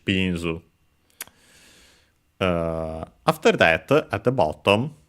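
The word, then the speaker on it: ビーンズ: Accent on the first syllable, so luckily regular, just like in English, binzu.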